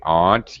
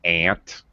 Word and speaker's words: aunt: And I say aunt. You may hear Americans say aunt. I did when I was growing up. Not really correct pronunciation, but I had an Aunt Mamie and Aunt Arlene.